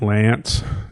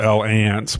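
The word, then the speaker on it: L'Anse: you know where like lance is i i pronounce the al ants but it's i think mostly it's pronounced lance um i thought like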